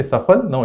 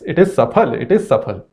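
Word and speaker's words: सफल: it, it must be restrict man saying Safal, can’t say Saphal, its Safal. Now we talk about gender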